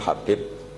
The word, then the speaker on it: Habib: yang nulis Abi Abdurrahman Habib asulam itu di harakatnya kitab itu ada yang nulis Yang ben oh yang benar itu bacanya habib habib itu asulami itu ikut